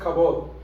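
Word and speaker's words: כבוד: honra en el hebreo significa se eh se pronuncia jabot que significa un peso sentir un peso en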